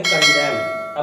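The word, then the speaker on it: condemn: अब आता है ये कंडेम नहीं, इसी तरह से एन आपका साइलेंट रहेगा, आपको केवल एम प्रोनाउंस करना है और आप कहेंगे क्या? अगर आप सीधी तरह से सादा बोलेंगे तो आप कहेंगे कंडेम।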